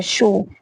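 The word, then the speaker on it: pshaw: तो स्पेलिंग क्या है इसकी, PNAUMATICS, न्यूमेटिक्स, यस, वायु विज्ञान जो होता है। नेक्स्ट है शो, PSHAAW, शो मीन्स विकार।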